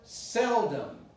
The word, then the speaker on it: seldom: This is the word seldom, which is using the same principle. I say sell with an L, naturally, not with a U. Seldom, and this is neutralized. It's not seldom or seldom. It's seldom. So you close your mouth, your lips, for the production of m. So seldom, seldom.